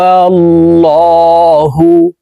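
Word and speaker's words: الله: ইখলাস শিখে নেই কুলহু আল্লাহু এই লামকে ল বলে পড়তে হবে কারণ আল্লাহ শব্দের আগের হরফে জবর অথবা পেশ হইলে এই লামকে ল অর্থাৎ মোটা করিয়া পড়িতে হয় এখানে কুল পড়া যাবে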